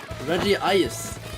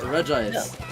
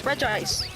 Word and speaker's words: Regice: It's Regice, not Regice. No, it's Regice. Oh. Look at how it's spelled.